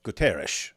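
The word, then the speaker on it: Guterres: un Secretary General Antonio gutiz when I hear his name pronounced I don't know if this is because it's a Portuguese or something like that but uh they usually say sha at the end GES I don't know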